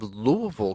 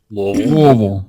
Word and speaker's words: Louisville: basically right smack on the south side of Louisville, Kentucky, or Louisville or Louisville, depending on whether you're from there, around there, or nowhere near there. Louisville. Louisville.